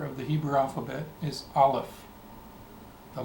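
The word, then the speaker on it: Aleph: the Hebrew alphabet is Olive the letter olive olive the letter Olive is a silent letter Olive is silent if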